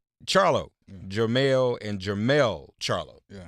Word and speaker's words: Charlo: Charlo.